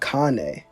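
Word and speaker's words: Kanae: Shinobu would already be dead, and Kane, that's how you say her name.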